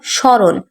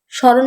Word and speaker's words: স্মরণ: যেমন স্মরণ, স্মরণ বানানে ম ফলা আছে ঠিকই, কিন্তু আমরা কিন্তু উচ্চারণ করিনি। দন্ত শয় ম, দয় ম, তয় ম। পড়ি, স্মরণ, বীর শহীদদের স্মরণ করি।